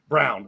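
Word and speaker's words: Braun: I mean, they had Bruce Brown last year, and now they have Christian Brown, which is pronounced Brown the same way.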